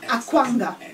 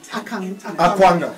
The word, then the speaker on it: Akwanga: I just want a proper pronunciation of your surname. So it's Dr. Akwanga. Akwanga. Akwanga.